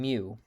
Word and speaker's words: mu: and then here's um mu pronounced like mu or like m-e-w like the cat um and these are